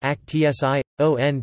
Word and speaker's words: Aktion: Aktion T4, German, pronounced Aktion T5, was a post-war name for mass murder through involuntary euthanasia in Nazi Germany.